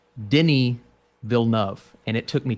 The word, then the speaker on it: Denis Villeneuve: Moving on here, I want to say that with the new Dune from director Denis Villeneuve, help me out here, Austin. Dude, listen to this. It's Denis Villeneuve, and it took me 2 years to figure that out.